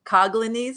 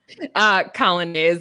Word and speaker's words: Colonnese: So Lauren Colonnese, is that right? Colonnese is how we say it, but I am not particular.